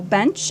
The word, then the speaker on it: Bensch: Facebook just at bench and my last name is spelled funny B NS c h just think kind of German okay yeah that's right